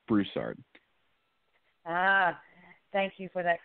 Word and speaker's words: Broussard: just one small correction my last name is pronounced Broussard ah thank you for